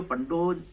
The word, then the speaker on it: पंडो: पंडो लिखते हैं और अंग्रेजी में जब इसका स्पेलिंग लिखते हैं तो PANDO लिखते हैं, तो उन लोग पांडो पढ़ते हैं। पांडव पढ़ते हैं। तो होता पंडो है, पढ़ते लोग पांडो हैं।